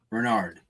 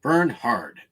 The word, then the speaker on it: Bernhard: the tommy bernard bernhard bernard but it's spelled burn b-e-r-n h-a-r-d burn hard so go check out